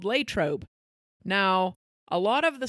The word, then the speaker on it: Latrobe: this so it looks like it should be L trob that's how I always thought it R but it's Latrobe I always thought that Versa was pronounced Versa